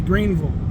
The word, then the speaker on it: Greenville: But any town that ends with Ville, V-I-L-L-E, like Knoxville, Louisville, Greenville, Nashville, it's pronounced Vol. So like Greenville would be Greenville. Louisville would be Louisville. That's the way they pronounce those towns. So if you want to sound like a native, you got to use the Vol.